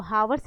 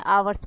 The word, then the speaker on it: hours: इसको हावर्स नहीं पढ़ते हैं, आवर्स पढ़ते हैं, यहाँ पर एच साइलेंट होता है।